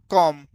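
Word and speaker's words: calm: कॉम कॉम में कौन सा वर्ड साइलेंट है? तो आप सभी को बता दें इसमें साइलेंट है बी। क्या साइलेंट है? इसमें बी साइलेंट है।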